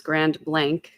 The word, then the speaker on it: Grand Blanc: way, that it's um, the way to pronounce the town name is Grand Blank.